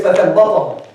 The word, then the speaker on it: فثبطهم: The ayah says فَثَبَّطَهُمْ. If you make a ta, it means فَثَبَّتَهُمْ. It means he made them steadfast, which is exactly the opposite in that context.